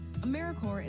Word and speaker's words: AmeriCorps: AmeriCorps is alive and well, just spelled with a silent P. So think of Apple Corps or Core of the Earth.